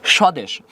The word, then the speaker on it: স্বদেশ: ওকে স্বদেশ দন্তস তালিবাস হয়ে গেছে। কিন্তু বফার উচ্চারণ এখানে বফ নাই। ওকে থামছে হসন্ত হইছে। আচ্ছা দন্তস তালিবাস হইছে। মানে 300 থাকলে সবসময় তালিবাস হবে। স্বদেশে এখানে বফলা ছিল ওখানে নাই। বলতো একটা কোশ্চেন করি।